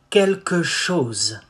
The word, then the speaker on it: quelque chose: How do you say something? You say quelque chose. Quelque chose. Chose. Quelque chose. Say it fast.